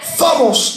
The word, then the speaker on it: phobos: La palabra temor es una palabra griega que se pronuncia phobos, de donde viene la fobia.